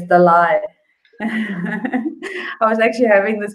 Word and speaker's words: Dalai: Over here we say Dolly Lama. It's not Dolly, it's Dalai.